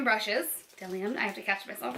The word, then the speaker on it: Bdellium: love this bag because I was calling this bdellium like the BB e so I was saying bdellium but look it says the beat is silent so now I know I actually really enjoy DeLeon brushes DeLeon I have to catch myself now I got